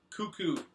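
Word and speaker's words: Koekkoek: player on the team on Tampa Bay Slater cuckoo holy the guy's cuckoo it's spelled k o e k k o e k cuckoo H that's how you pronounce it the native Windsor Ontario defenseman for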